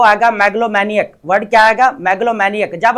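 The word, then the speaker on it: megalomaniac: मैग्लोमैनियक इसकी प्रोनाउंसिएशन रहेगी यहाँ पर ताकत या खुद पसंदी का जुनून रखने वाला, आ पर्सन ऑब्सेस्ड विद पावर और सेल्फ इंपोर्टेंस।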